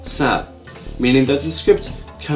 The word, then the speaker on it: 食: Comprised of different ideograms, for example, this symbol, meaning wet, is pronounced in Mandarin as shi, but in Cantonese as sa, meaning that the script can allow people of certain differing languages to communicate by writing.